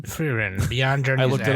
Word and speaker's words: Frieren: Frieren. And it's pronounced Frieren. Gizmo would know because it's German. Frieren.